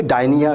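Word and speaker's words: Gdynia: है राधेशाम वहां पर ये डायनिया कहा जाता है पी से शुरू होती है वैसे इसकी स्पेलिंग अगर आप देखेंगे पर डायनिया प्रोनाउंस होगा वहां पे बड़े सारे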